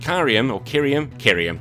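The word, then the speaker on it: Kyurem: Look, here the big thing is that Pokemon decides to steal from the Digimon pot and brings in fusion with Kyrium, that's how you pronounce it, with Kyrium White or Kyrium Black.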